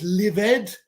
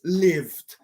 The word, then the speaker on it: lived: noise destroyed destroyed um lived no it's livid it's lived closed no it's closed